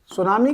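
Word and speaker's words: tsunami: तो बी सुनामी ready B सुनामी गलत लिख गया बी सुना सुनामी रेडी सुनामी की जो स्पेलिंग होती है ना दोस्तों उसमें टी साइलेंट रहता है तुम सोचो यार टी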